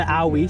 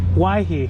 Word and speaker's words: Owyhee: this what they call the owie stuff why he yep we've been saying it wrong yeah i've been saying